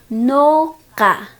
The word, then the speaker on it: ñuqa: El día de hoy aprenderemos a pronunciar los pronombres personales en nuestro runasimi miskisimi. Todos juntos conmigo. Yo, no, ka.